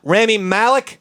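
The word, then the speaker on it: Rami Malek: you're on the spot remy malik i believe is how you pronounce that name yeah yeah he's gonna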